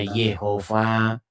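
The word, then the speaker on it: Jehovah: Cuman ada orang merekonstruksi bagaimana cara membacanya. Ada yang membacanya Yahwe, ada yang bacanya Yehova. Begitu.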